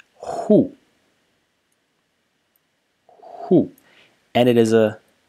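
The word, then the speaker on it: 户: The first element is this element over here, which is pronounced hu.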